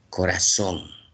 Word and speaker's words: corazón: Miren, corazón es una palabra aguda porque su su sílaba tónica está en la última sílaba, ¿no?